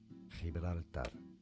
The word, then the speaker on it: Gibraltar: We passed through the Straits of Gibraltar. Gibraltar. Let's try it again. Spanish pronunciation Gibraltar. Gibraltar.